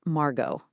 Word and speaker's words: Margaux: Let's get the pronunciation right, because it's key. We've got Margaux, Saint-Julien, Pauillac, and Saint-Estèphe.